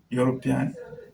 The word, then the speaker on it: European: So the first letter in the pronunciation is a consonant letter and therefore has a consonant sound, and that's why we use a before it, and we say a European.